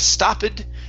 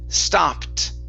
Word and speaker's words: stopped: down okay very nice here we have the Ed ending so instead of stoed it's stopped stopped stopped okay very good next up